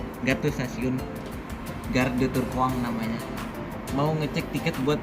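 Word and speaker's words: Tourcoing: Nih, jadi kita di Turkoang sekarang mau ke Lille Flong yang ini jam 18.17. Ini nama kotanya Turcoing, dibacanya Turkoang.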